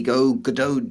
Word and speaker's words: Godot: But we are proudly hosting, or one of the many hosts, of the Godot Jam. Well done. I said it right. Yes. I've been getting that wrong all day. Godot.